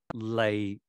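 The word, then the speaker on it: 脷: and a prominent tongue the tongue is pronounced lay in Cantonese a homonym for profit it makes no sense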